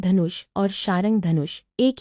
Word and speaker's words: शारंग: हिंदी में उच्चारण के कारण इसे सारंग भी कहा जाता है।